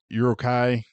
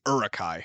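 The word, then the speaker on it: Uruk-hai: The Urukai, is that how you say it? Sure. I I always pronounce it Urukai.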